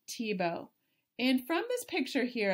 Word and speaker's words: Thiebaud: And you would never guess it from the spelling, but it is pronounced Thiebaud.